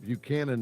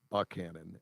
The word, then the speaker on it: Buchanan: Now, everywhere else I lived, Buchanan is pronounced Buchanan, but down in Southwest Virginia, it's pronounced Buckhannon.